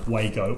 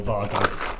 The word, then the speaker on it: Wago: on facebook that they're happy with the pronunciation to be either way go or vardo i know when we